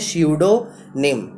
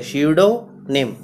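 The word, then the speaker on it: pseudonym: तो उसे कहते हैं स्यूडोनिम। फिर स्यूडो नहीं पढ़ेंगे इसमें, जो पी है आपका वो पी साइलेंट है, स्यूडोनिम। आर्ट of making fireworks, पटाखे,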